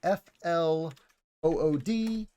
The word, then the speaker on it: flood: flooding and again remember flood looks like f l o o d same as blood we don't say flu and Blu it's flood and blood another common English mistake